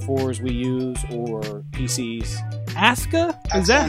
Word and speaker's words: Asuka: Wii use or PCS ASA is that how we're saying it w doing one thing right because Japanese pronunciation you never pronounce the you okay it is Asa that's Asuka yeah I can't wait